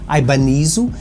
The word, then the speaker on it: Ibanez: Porque a marca é japonesa, a Ibáñez em japonês pronuncia-se Ibanez, mas será que é mesmo japonesa?